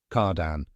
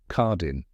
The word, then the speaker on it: Cardin: not Pier or Pier cardan say cardan with a soft nasal n at the end not Cardin like in English now say it with